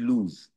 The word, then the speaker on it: lose: এর আগের দিন আমি একটা ডিফারেন্স বলেছিলাম দুটো শব্দের মধ্যে, LOOC লুজ, আর একটা বলেছিলাম LOSE লুজ। সেম প্রোনাউন্সিয়েশন, একই উচ্চারণ, কিন্তু বানান আলাদা, দেখো, এবং তার মিনিংও আলাদা।